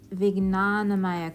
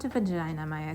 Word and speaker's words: Vijnanamaya: Moving on to Vijnanamaya kosha, not Vajinamaya kosha, which is how I always want to pronounce it.